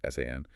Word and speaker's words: SAN: This could be network infrastructure like routers and switches, large storage devices like SAMs, storage area networks, pronounced SAN, or NAS, network attached storage, pronounced NAS, personal computing devices like laptops, desktops, tablets, smartphones.